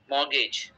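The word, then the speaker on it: mortgage: আচ্ছা, ভুল থাকতে পারে, বাট এই ডিকশনারিতে মর্গেজ বলতেছে। মিনিংটা তাহলে উচ্চারণটা কি করব? মর্গেজ, মর্গেজ।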